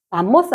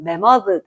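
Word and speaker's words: 매머드: 아 발음이 좋아지. 얘를 만모스 하면 안 되고.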